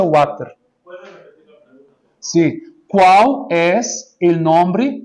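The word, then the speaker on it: Vater: Aqui em espanhol seria water. Não sei se assim se diz em espanhol. Pero a pronúncia é water.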